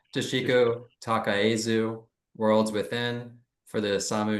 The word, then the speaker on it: Takaezu: Glenn, I always get this name wrong. Toshiko Takaezu, Worlds Within for the Osamu Noguchi Museum, and Nike Form Follows Motion for the Vitra Design Museum.